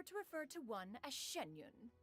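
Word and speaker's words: Xianyun: occasions be sure to refer to one as shenyun shenyun Shen Shen sh I've been have I been pronouncing her name wrong this entire time am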